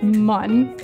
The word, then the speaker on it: Mun: I pronounce it Mun.